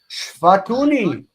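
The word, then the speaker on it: שפטוני: Okay, so shafatuni, stress is here. This syllable is near. This syllable is distant. We got this, reduce here, and we have shvatuni.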